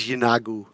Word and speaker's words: Yeenoghu: Also, they uh Derek, you Sorry to interrupt, you were It is is It is Yeenoghu.